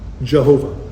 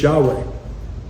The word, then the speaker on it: Yahweh: God's name is not Jehovah. It's Yahweh.